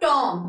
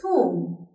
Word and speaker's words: tomb: It is not Tom. It is tomb.